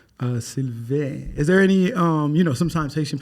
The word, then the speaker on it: Sylvain: I pronounced it right. Sylvain.